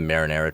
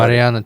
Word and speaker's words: Mariana: Um I was I was mispronounc the uh sounds like the Marinara trench like whatever the hell Mariana trench in Indian Ocean, right?